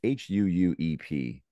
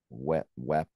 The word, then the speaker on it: Huuep: It's Huuep, but he pronounces it like wep or something Web. like that.